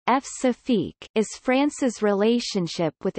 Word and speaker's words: Françafrique: Françafrique, French pronunciation, F-Safique, is France's relationship with its former African colonies.